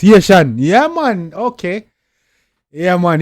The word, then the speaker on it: Ayetian: Ayetian, he pronounce Ayetian. Yeah, man. Okay. Yeah, man. Ayetian. Bob say Ayetian he pronounce.